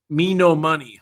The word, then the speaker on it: Menomonee: Menomonee Falls just yep Menomonee Falls yes sounds like a beautiful we call this me no money that's how you spell it without the why me no money me no money falls Menomonee Falls but uh